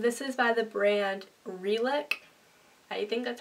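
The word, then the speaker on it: Relic: And then I got a belt and this is by the brand Reick.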